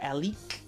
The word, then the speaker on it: Alek: Then there's the supermodel Alek. That's how you pronounce her name.